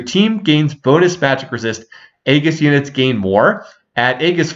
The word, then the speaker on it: Aegis: to mention what the Aegis trait does I'll try to pronounce it as Aegis because I do believe it's a hard G if you're new to